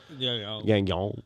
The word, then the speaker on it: Gagnon: I can't pronounce it. Gagnon.